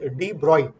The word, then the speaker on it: de Broglie: इसको प्रोनाउंस करते हैं एज डी ब्रॉय।